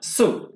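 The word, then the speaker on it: sue: সু মানে কি সিউ না, কিন্তু সু মানে মামলা করে, উচ্চারণ সিউ হবে না, সু দীর্ঘ উচ্চারণ হবে সু।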